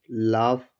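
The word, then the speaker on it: laugh: आपको ध्यान रखना होगा कि इसमें जो जी भी होगा वो भी साइलेंट ही होगा। आपको ध्यान रखना है। जैसे एल ए यू जी एच लाफ, टी एच ओ यू जी एच दो, सी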